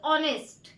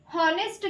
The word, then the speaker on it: honest: शी इज ऑनेस्ट। क्या? शी इज ऑनेस्ट। अब आप बोलोगे यहाँ पे हॉनेस्ट क्यों नहीं बोलेंगे? तो इसमें यच बच्चों साइलेंट होता है, HONEST। ऑनेस्ट पढ़ते हैं हम इसको, ठीक है।